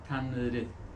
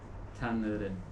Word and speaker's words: Tanrı: But in modern Turkish, it is pronounced Tanrı. Tanrı.